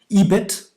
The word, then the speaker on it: EBIT: like you said were ebit and it's usually pronounced right earnings before interest and tax uh or ebitda yes